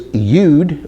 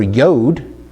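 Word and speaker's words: יוד: Okay, so now we move on to the next letter, which is Yud or Yod.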